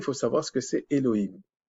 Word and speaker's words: Elohim: savoir ce que c'est Elohim Elohim enfin je le prononce à la française là et le him